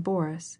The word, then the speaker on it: Boris: as she followed him she pronounced the name Boris with the accent on the first syllable I cannot stay any